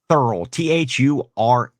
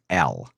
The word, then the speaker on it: Thurl: Thurl, Thurl.